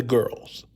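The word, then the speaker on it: Gworls: This organization is called For the Girls or For the Guals. I apologize if my pronunciation is is poor, but it's pronounced G Wo Rs. for the girls, which is a black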